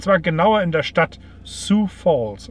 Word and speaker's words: Sioux: South Dakota, und zwar genauer in der Stadt Sioux Falls. Warum sage ich Sioux? Weil es Sioux ausgesprochen wird.